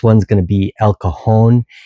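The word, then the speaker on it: cajón: First one's going to be el kahon. And that's spelled c a j o n. Kahon means box in Spanish. And it's not kajun, which is a completely different type part of the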